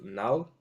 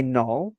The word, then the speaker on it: Null: Knall or Null? I say null, Null. as in like NULL, like a null value, you know.